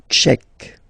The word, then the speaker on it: tchèque: La République tchèque. So remember, QUE, k, k, Tchèque. La, and then here as well, République. La République tchèque.